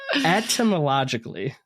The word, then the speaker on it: etymologically: Etymologically. Okay. I like, for some reason I can say etymology without pronouncing the T, but etymologically, I got to put that hard T in there.